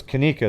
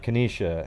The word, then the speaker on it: Kanika: was really stupid yeah her name was kanika though wasn't it's not kanesha hey don't don't comment